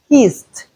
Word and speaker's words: kissed: The past tense form of kiss is kissed. We have the t sound at the end.